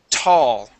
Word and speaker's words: tall: Okay, so the word is tall. Okay, it's a quick burst.